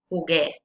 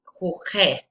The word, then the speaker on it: jugué: Jugué. Because if you don't write u there, if you just put like in regular way, e, it would be jugé.